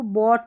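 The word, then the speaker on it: bought: यहां देखेंगे तो ओ यू के बाद में जी एच है और लास्ट में टी है। तो इसको बॉट पढ़ेंगे। यानी कि ये जी एच साइलेंट है।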